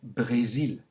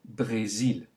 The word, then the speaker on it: Brésil: For example, le Brésil. Note the kind of E sound. Le Brésil. Try it again. Le Brésil.